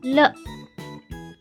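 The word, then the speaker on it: 了: Dalam Mandarin, huruf yang tidak ada nada disebut qingsheng. Cara bacanya adalah ringan dan juga pendek. Le.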